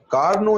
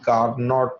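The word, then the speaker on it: Carnot: इसे कंट्रोल पड़ेगी के कार्नो इंजन पर एंड यहां पर लोग इसको नोट इंजन पड़ते हैं यह का नोट निकाल लो एबी साइलेंट है और यह नाम है एक फ्रेंच मिलिट्री इंजीनियर का तनाव मैचों में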